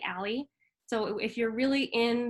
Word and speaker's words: A11Y: So there are 11 letters between the A and the Y for accessibility, and that gets shortened to A11Y, which is pronounced usually ALI.